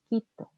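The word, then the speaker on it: Quito: it okay that's the wrong pronunciation the right pronunciation is kitto okay now is the next letter the nightmare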